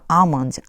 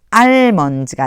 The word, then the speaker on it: almond: 그리고 여기도요. L이 소리가 안 나요. 아몬드예요. 아몬드. 알몬드가 아니고 아몬드.